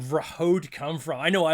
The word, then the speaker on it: Vrahode: I try to say this but it's you pronounce it perfectly it's it you know rahod is exactly it um I'll be honest with